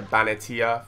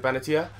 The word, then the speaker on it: Benatia: And then this guy, Benatia. Is it Benatia?